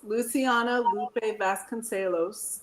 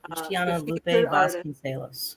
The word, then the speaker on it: Luciana Lupe Vasconcelos: Luciana Lupe Vasconcelos is that's it. Luciana Lupe Vasconcelos.